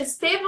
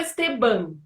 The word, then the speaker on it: Estevan: É Estevam ou é Esteban? Estevam mesmo, tá correto, Camila.